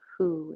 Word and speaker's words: Hu: a very subtle sound it's called who it's spelled hu and it's this sound